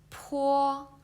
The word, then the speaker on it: po: The first one is the bo, and this one is po. Okay, so if you put your hands in front of your mouth, and you can feel there is a strong brace coming out when you read the po.